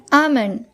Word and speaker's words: almond: So the correct pronunciation is Wednesday. So let's move to the second one. So the next one is almond.